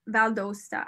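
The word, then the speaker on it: Valle d'Aosta: yes for sure and he's correcting my pronunciation to valda valdosta okay thank you thank you thank you there was an extra i was throwing an extra a in there vale dosta maybe valedosta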